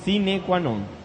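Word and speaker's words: sine qua non: cuando no es así que se pronuncian sine quanon muy bajo la verdad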